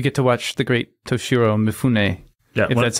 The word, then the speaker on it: Toshiro Mifune: Well, we should also say that you get to watch the great Toshiro Mifune, that's how you pronounce his name.